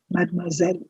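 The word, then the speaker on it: mademoiselle: that i'm looking at mad marzell please see the s in this word is sounding like a zed you don't say nothing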